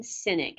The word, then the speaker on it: Sinek: I highly recommend by a gentleman named simon Sinek and it's spelled SI n EK that's n is in